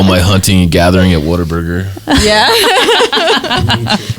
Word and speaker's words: Whataburger: You gotta have the twang, right? Like oh, what a burger! What a burger.